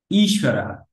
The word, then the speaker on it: ঈশ্বর: একইভাবে ইচ্ছা ঈশ্বরা, ঈশ্বরা। আর তালব্যস্যই ব, এটাকে আমরা কিভাবে বলবো, এটা হচ্ছে অ্যাকচুয়ালি ওয়া, মানে এই বটাকে আমরা ওয়ার মতো উচ্চারণ করি, তালব্যস্য যোগ ব হইলে সোয়া, ঈশ্বর, ঈশ্বর।